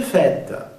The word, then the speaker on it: fête: Il flotte un air de fête. Il flotte un air de fête. Fête, con el sombrerito se pronuncia con una E abierta.